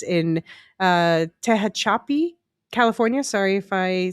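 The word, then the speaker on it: Tehachapi: he says in uh Tahachapi, California. Sorry if I said that wrong. The correct pronunciation of that town is Tahhatchipi, California.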